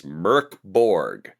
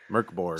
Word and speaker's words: MÖRK BORG: All this time I've been making fun of it and it says it's Merkborg. Merkborg.